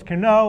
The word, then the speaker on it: Cano: bit like you right you pronounce it kano it's cano but you're just being